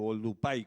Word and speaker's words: Oldupai: Bien, esto es otra imagen similar donde se ve por qué Olduvai Gorge se llama Olduvai o Oldupai, como lo pronuncian ellos, los tanzanos y los masáis.